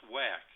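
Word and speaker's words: WACC: average cost of capital or wac which is some sometimes pronounced whack the whack represents the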